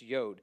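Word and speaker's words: יוד: he's he's talking about this yod that's a y sound so y y it's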